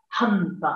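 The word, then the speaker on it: हन्त: Here you see the syllable, ha, it has to be pronounced with greater effort, ha, hanta, hanta, alas, alas.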